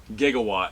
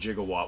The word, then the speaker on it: Gigawatt: It's the Transformers Back to the Future crossover figure, Gigawatt. Spelled and pronounced properly, Gigawatt, but we all know Doc said Gigawatt.